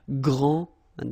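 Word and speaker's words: grande: final s okay so gr and then same thing here gr and regarding the feminine form you will pronounce it Grand okay don't insist on the final but then pronounce the D Grand and then exactly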